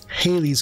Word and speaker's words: Halley: Now, a lot of people say Halley's Comet. It's actually Halley. It rhymes with valley.